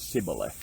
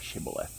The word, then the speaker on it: Shibboleth: along that line and the enemy couldn't pronounce it right and they pronounced it's symbolic instead of Shibboleth and they knew from